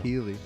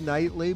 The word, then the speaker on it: Keighley: were talking about this, I learned how to pronounce Jeff Keighley's name. So There you I was go. right. Yeah. Keeley. we learned. I only said Nightly because that is what fucking Phil said to me.